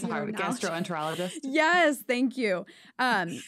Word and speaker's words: gastroenterologist: Primary Care my Gast gastro I can never pronounce this word gastron it's hard gastroenterologist yes thank you um it's aough they're a